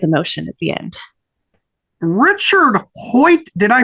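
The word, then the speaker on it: Hoit: very special surprise emotion at the end Richard Hoy did I pronounce his last name correct I know it's spelled hoi t yes Richard Hoy yep well he Illustrated both books in the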